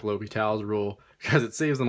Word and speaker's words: L'Hôpital: L'Hôpital's rule, and that is how you say it, he was French, says that if you